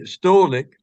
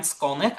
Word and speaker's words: Skolnik: And so um, I'm so happy that Ryan, let me see, Stolnik, is that how you pronounce it? Yeah, Okay, Skolnik, exactly how it looks.